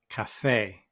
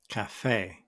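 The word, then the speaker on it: café: a as in Cafe notice where I put the stress in the word I put it at the End Cafe Cafe for example I worked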